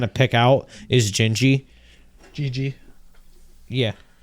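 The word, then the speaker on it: Jiji: Gigi. Yeah. It's J-I-J-I is how you spell it.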